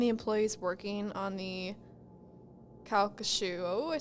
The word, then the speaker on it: Calcasieu: the visitors and the employees working on the calc shoe oh I said it right calcushu Parish are convinced that Henry spirit is still